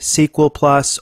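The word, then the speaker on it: SQL*Plus: the SQL plus utility you'll hear me say SQL Plus or SQL plus alternatively it really doesn't matter now you notice the name of the utility is SQL Star Plus some folks even pronounce the star but I don't think that's necessary I think the star is just a separator or a delimiter between the two words that's a little bit too nerdy for most people to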